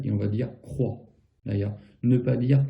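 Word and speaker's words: croient: Et on va dire croit. D'ailleurs, ne pas dire croyez. D'accord? Ça peut s'entendre aussi en France, des gens qui ne savent pas. Mais ici, le ENT ne se prononce pas.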